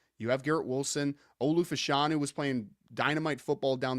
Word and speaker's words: Fashanu: have Garrett Wilson Olu fashanu was playing Dynamite football down the or fashion I guess is how pronouncing it now so he's playing Dynamite